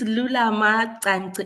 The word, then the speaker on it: Lulama Tanti: It's Lulama Tanti. It's in Xhosa, so you have Sorry? to click your tongue.